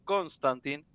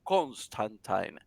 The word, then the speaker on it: Constantine: dudosa y métodos cuestionables su nombre es John constantin según la pronunciación también del mismo Alan Moore que fue su verdadero creador es era John Constantine este digamos que esta